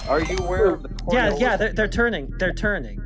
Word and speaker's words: Coriolis: You didn't say it right. It's Coriolis.